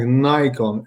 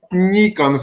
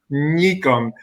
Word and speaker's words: Nikon: Because my friends from the United States pronounce the name Nikon like Nikon, and something like Nikon does not exist. And that is my favorite subject of the conversation. This is Nikon, for the God's sake.